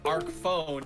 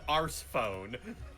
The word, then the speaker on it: Arc Phone: as arceus also it's arc phone not ours phone yeah like you don't call it rspone you call it arc phone like an arc like the mcdonald's arch yeah ours sounds like